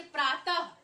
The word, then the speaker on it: प्रातः: तो आप क्या ध्यान देते हैं, अंतिम में क्या चीज आता है, ह। यानी विसर्ग जब हम बोलते हैं तो उसमें अंतिम में क्या, ह, उच्चारण में ह आता है।